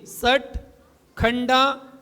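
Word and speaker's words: षट्खंडागम: था ट खंडागम बोलिए खंडागम तीन स्टेप में पढ़िए षट खंडागम संडागम बिल्कुल सही उच्चारण हो जाएगा आपका ट खंडागम सट खंडागम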